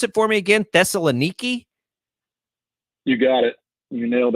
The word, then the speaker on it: Thessaloniki: Pronounce it for me again. Thessaloniki.